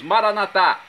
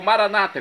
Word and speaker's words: Maranatá: E agora eu clamo do aramaico dialeto de Jesus, Maranatá, como dizemos nós católicos, ou Maranata, como dizem nossos irmãos separados, os evangélicos ou protestantes. Não importa a pronúncia, o significado é o mesmo.